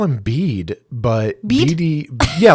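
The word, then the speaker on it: Bede: Oh, it's pronounced beat.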